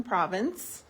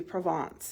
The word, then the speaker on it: Provence: We're at 411 Centura in Cherry Hill, also known as 411 Province. It's all French names in here. I used to be Provence if you really wanted to say it right, but it's New Jersey, so.